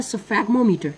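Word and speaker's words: sphygmomanometer: इसका correct answer है जी इसको इसको जो है ना इसकी प्रोनाउंसिएशन वो है सफेग्मोमीटर।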